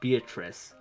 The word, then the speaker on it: Beatrice: if you remove the O syllable, Beatrice, that's actually how you say the name in Italian, not Beatrice.